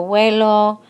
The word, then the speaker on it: huelo: And in Spanish, we don't pronounce that H. So it's todavía es yo huelo, hueles, and this is like a diphthong here sound between those two.